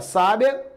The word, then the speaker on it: sábia: Eu posso pronunciar sábia, sabia, sabiá. Veja, são os mesmos sons, são as mesmas letras.